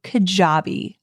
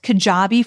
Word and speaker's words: Kajabi: any level i want to introduce you to kajabi i call kajabi the mack daddy of all